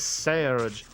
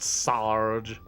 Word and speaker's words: Serge: a heavy accent saying my name is Serge not Sarge Sarge it sounds like